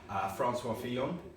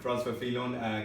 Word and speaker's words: François Fillon: However, François Fillon, nice pronunciation, by the way. Thank you. François Fillon came through and actually won that, effectively ending Sarkozy's career.